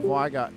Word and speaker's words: Viger: Viger is now on track. See him coming up. Hey. Like bigger better. Well, that's how he pronounces his name, so it's correct.